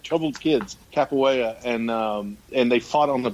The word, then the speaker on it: Capoeira: It's Capoeira. Brubacher. Capoeira. Everybody hold their dicks as we cross the pronunciation bridge.